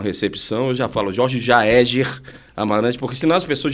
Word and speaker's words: Jaeger: Vai falar jáer, fala Jeger, fala de tudo, mas menos Jeger, mas o a pronúncia é Jaeger e vem do austroalemão que é caçador, né?